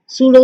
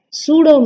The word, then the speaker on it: pseudo: Okay, so pseudo stratified. Stratified na mostly straight இருக்க மாதிரி தான். You may see here pseudo stratified, but pseudo means P is silent here.